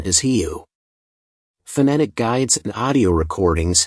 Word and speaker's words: real: While the English alphabet might suggest it's pronounced real, the correct pronunciation is heu.